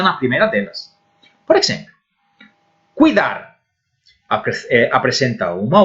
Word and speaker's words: cuidar: Cuidar, neste caso, a vocal forte, a sílaba tónica, é dar.